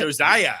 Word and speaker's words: Josiah: Josiah.